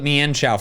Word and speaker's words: Mienshao: I feel like I called it Mienshao for a while and then I learned it's mean.